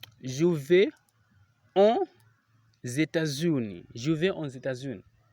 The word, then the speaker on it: aux: That's why we can see here that O is ending in an X, and that X is not pronounced unless the following word is starting with a vowel.